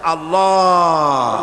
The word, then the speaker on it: আল্লাহ: পাকের নামের উচ্চারণ হচ্ছে আল্লাহ মুখটা একটু গোল হয়ে যাবে বলেন আল্লাহ আল্লাহ সুবহানাল্লাহ পৃথিবীতে বিভিন্ন